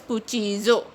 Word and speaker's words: cuchillo: Double L is pronounced as J in Spanish, so it is pronounced as cuchillo. Cuchillo means the knife in Spanish.